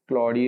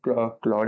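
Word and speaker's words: Claude: बाकी जितना मेरे को याद है एडब्ल्यूएस पे सिर्फ क्लडी ही क्लॉड है।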